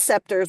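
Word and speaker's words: Sceptres: and the Toronto, and I'm making this my pronunciation, Septres. I know it's Scepters. We're going with Septres.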